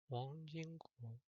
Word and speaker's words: Wang Jingguo: Let me actually see how his name is pronounced. No, that's not it. 叫 Wang Jingguo.